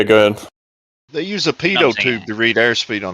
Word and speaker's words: Pitot: It's PITOT, by the way, guys. Yeah. Yes. Wait, how do you spell it now? Real question. PITOT. PITOT. It's like a pivot.